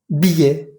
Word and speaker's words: billet: Ticket, secret, projet, sujet, objet, filet, poulet, billet, sommet, jouet. En ninguna de estas palabras pronuncié la T que va al final, pero sí pronuncié la E que va antes de la T.